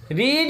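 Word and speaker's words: read: रीड होता है first second third form रीड ही होता है, लेकिन प्रोनाउंसिएशन रीड का क्या हो जाता है, जब हम सेकेंड क्या हो जाता है प्रोनाउंसिएशन रेड।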